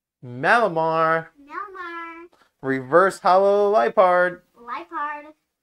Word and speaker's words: Liepard: Lipard. It's like a leopard, but a Lipard.